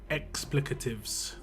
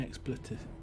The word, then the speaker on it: expletives: That's I think it's called explicatives. Is it explicatives? Let me just Google it. Explicatives. Yeah. An oath or swear word. Explicatives. I might actually pronounce it wrong though. Expletives. Okay, yeah, it's not explicative.